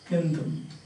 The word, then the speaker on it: Kentum: And western we call Kendum, because the word meaning, that's originally spelled K, now it is Kendum, same, instead of C, K, pronunciation is same, K, so that's we call the Kendum languages.